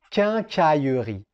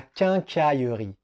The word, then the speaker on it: quincaillerie: un mot qui est un peu compliqué à prononcer. On continue avec la quincaillerie. La quincaillerie. La quincaillerie.